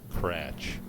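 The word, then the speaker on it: Kratzsch: twin the Builder's unknown cratch spelled k-r-a-t-z-s-c-h I had to spell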